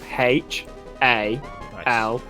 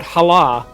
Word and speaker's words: Hala: There's also an area near where I live that's spelled H-A-L-A. And it's not called Hala, it's called Hala. It's called Hala, yeah.